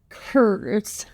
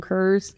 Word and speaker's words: Kerze: Um, and so we're going to be talking about 17-year-old Christopher Kur, I believe is how you pronounce his name.